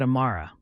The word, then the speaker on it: Amara: "You're a long way from home, Amara Okafor." Something in the way he said her name made her skin prickle with awareness. He pronounced it correctly, with the emphasis on the second syllable, as if he'd taken